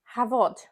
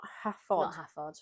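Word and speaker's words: Hafod: cheese is the cheddar so so ah it's pronounced havod oh thank you not have fun anyway so it's an unpasteurized cheddar made by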